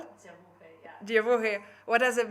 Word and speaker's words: Dziewuchy: I'm sorry, I'm going to pronounce it so wrong. I think Dziewuchy, how it's called? Dziewuchy, yeah.